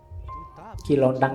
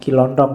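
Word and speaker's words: Ki Lontang: ada muridnya namanya kilontang kilontang ini waktu diinterogasi antara lain yang diucapkan itu bukan kilontong ya kamu ngertin lontong oke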